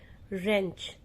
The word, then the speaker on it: wrench: Wrench. Here W is silent, so we pronunciate, the right pronunciation of this word is wrench.